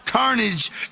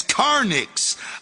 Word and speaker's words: Carnage: to the words and discovered that Isam had mispronounce Carnage as Carnics.